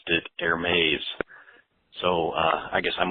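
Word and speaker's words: Hermès: good day yes you are correct it is pronounced air Mae uh you know as a American English speaker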